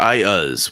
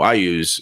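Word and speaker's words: Iuz: and um somebody said is is it ius or i use what is it what is it elaine's like well actually in the book it specifically states it's ius is how it's pronounced however just so you know i use is up here blah blah blah blah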